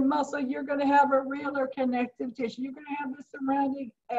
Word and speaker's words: areolar: And the one we are going to start with first is areolar connective tissue. So make sure you say that word, areolar. Okay, because if you can't pronounce it, you can't spell it.